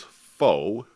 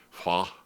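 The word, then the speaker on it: phở: the Vietnamese beef soup, which colloquially everybody pronounces as pho. And again, don't write in and hate on me, because I understand that is a bad pronunciation. That it's something roughly to the effect of pho. But because we don't have that sound of the O with the karat above it in the English language, people usually just call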